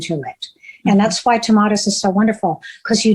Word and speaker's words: Tomatis: Is that how you pronounce it? The Tomatis? You did great, Tomatis.